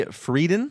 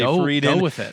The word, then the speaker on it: Friedan: the 1960s uh uh Betty freden that's how I'm going to pronounce it at least your Friedan freden we'll say freeden she wrote the feminist